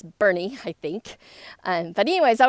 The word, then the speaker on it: Boerne: So today I was having lunch with someone in a little town called Boerne, Texas, and it's not spelled B-E-R-N-I-E, it's spelled like B-O-R-N-E, something like that.